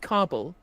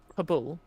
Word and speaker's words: Kabul: It was so call yourself an expert, but I think you'll find it's pronounced carbal, not habul.